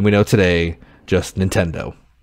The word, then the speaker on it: Nintendo: like you know and it's not like accent to it just Nintendo it's how it is it's it says as it's spelled um so yeah he